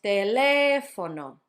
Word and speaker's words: teléfono: And last one is teléfono, teléfono, teléfono. Notice it's on the third to last syllable.